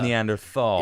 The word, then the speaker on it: Neanderthal: a latin thing to say so it is neanderthal it's like thule is tahuli right yeah a